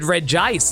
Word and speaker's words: Regice: I remember people actually called it Regice elsewhere.